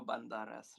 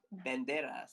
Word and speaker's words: Banderas: Oh, Spanish actor. Spanish. Therefore, you pronounce the S. Banderas.